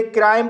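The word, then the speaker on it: crime: के बाद एक लेटर एम छोड़कर ई आया है इसलिए आई का लॉन्ग साउंड आई पढ़ा जाएगा इसलिए इसे क्राइम पढ़ा जाता है और क्राइम मीस होता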